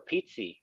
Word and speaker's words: Pizzi: Came From Italy that that's how you pronounce in Italy pizza uh but over here